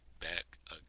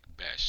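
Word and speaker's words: Bech: Smith looking for Jack Beck. Jack Bes, I actually think Let me see. Jack I actually No, it's Jack Bash.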